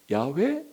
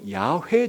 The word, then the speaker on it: 야훼: 그 음력들을 따져보면 야베 야훼 야훼 이런 식의 발음이 나와요 그러니까 아마도 원래 하나님이 모세에게 가르친 하나님의 고유한 이름이 야외 혹은 야훼 정도의 발음가가 나올 것이다 그렇게 해서 또 최근에